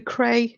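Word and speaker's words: Krei: on do you know the cray if that's how you pronounce it k k r e i Art Channel and ejoy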